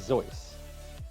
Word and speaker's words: Seuss: instead dr seuss yeah he's german the way you pronounce that word is zoice it's like z-o-i-s-s i guess or 1-s 1.